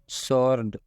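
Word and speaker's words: sword: मतलब होता है जवाब सर्ड सर्ड का मतलब होता है तलवार यहां पर एस के बाद डब्लू आया है और जब भी एस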